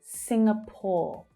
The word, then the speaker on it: Singapore: It's the first syllable that's stressed. Sing, we have that consonant sound. Sing, sing, that unstressed vowel sound. Singapore or Singapore.